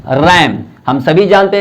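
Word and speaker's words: RAM: रैंडम access memory तो ये हम आर ए एम नहीं बोलते हैं बल्कि इसको रैम बोलते हैं एज अ वड प्रोनाउंस किया जाता है थर्ड देखिए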